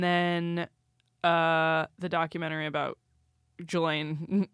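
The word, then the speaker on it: Ghislaine: And then uh the documentary about Gelain Galain Maxwell. Galain Maxwell. Is it G or J? She's a predator. I just know that the S is silent.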